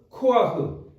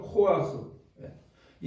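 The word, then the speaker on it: כֹּחַ: 코라고 하는 말이에요 따라해볼까요 코아흐 예 어렵죠 코아흐이 히브리 단어는 이런 단어가 있어요 근데 우리가 발음할 수 없는 단어에요이 사람들의 그 구강구조와 우리가 다른지 모르지만 이렇게 해갖고 이게 약간 위에서 이렇게 뜨는 느낌의 발음인데 어쨌든 흐 그니까 우리가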